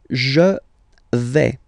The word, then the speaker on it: vais: The first form is je vais. Okay, so remember, final S not pronounced here. Je vais. Okay, when you combine this A, I, you get the sound E, really open. Okay, je vais.